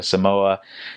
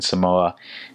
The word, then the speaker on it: Samoa: grateful to go to Samoa, can't wait to serve in Samoa. And my uncles and dads are like, it's not Samoa, it's Samoa.